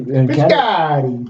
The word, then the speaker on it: Piscotty: Actually, Piscotty.